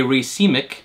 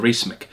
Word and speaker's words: racemic: made the observation that a racemic which i didn't know how to pronounce until gorilla chemistry recently corrected me i used to call it a racemic a racemic amphetamine produced what he